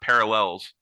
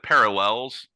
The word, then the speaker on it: parallels: I said parallels because Oh, I emphasized the last syllable because you do in parallelogram, and I was a big math nerd, but evidently it's parallel.